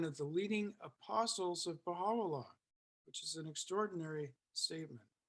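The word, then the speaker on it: Bahá'u'lláh: of time the name baha'u'llah was spelled with an o for phonetic reasons because the use is pronounced o the short u is pronounced o and and spoken in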